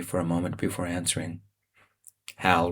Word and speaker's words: HAL: "Hal rhymes with Cal.